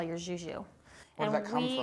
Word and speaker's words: Jou: you can call your Zhoo. Where did that come we from? are, well, it's French-German, Okay. but it's spelled phonetically. So you would typically see it like J-O-U. And we're our dad's 3 Zhoo girls.